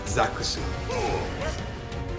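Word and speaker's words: ザックス: know that besides rounder in uh Japanese is literally pronounced Zacks interesting I'm telling you I'm really loving Barrett in this version like legit yeah it's zakusu thank you for a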